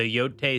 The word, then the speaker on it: Yōtei: Um, her whole family was murdered by the yo yo, how do you say it? Yo, yo, with the o gota draw it out. Long O. Um, the Yote 6, which is like uh their leader.